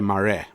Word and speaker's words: Marais: South African author called Eugene morees pronounced in South Africa Mari and the soul of